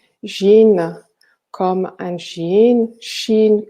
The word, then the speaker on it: Shin: gines comme un gène chine comme le pays et jutsus il suffit